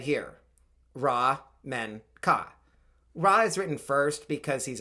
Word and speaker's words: Menkaure: since my last video I think raw would probably be the emphasized syllable we know raw was